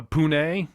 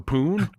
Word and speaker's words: Pune: like Portland or something it's p-u-n-e how do you pronounce that in India Pune India it is probably Pune I would say so